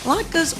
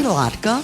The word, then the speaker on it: latke: Latkes or latkes through the years have sparked some controversy, and more than one beginning with the pronunciation. Do you say latka or latke?